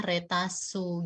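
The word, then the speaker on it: レタス: bacanya cara bacanya adalah sedangkan dalam bahasa Jepang tidak ada lele itu diganti jadi rek makanya jadilah Reta su gitu ya jadi kita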